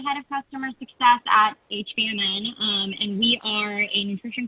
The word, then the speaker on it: HVMN: It's HVMN, so it's just the acronym Health via Modern Nutrition. So pretty straightforward there.